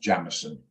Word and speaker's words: Jameson: It's actually pronounced Jamison.